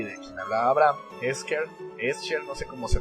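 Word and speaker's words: Escher: dibujos de es es Es eser Cómo se pronuncia no sé Bueno mira se deletrea e s c h e r y a los amigos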